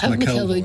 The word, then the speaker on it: McElvoy: It's McElvoy. Just go more Scottish. Have a quick whiskey and go Scottish.